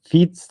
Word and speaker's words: Vietz: um last name is FATZ like your feet if you want to pronounce it um I am officially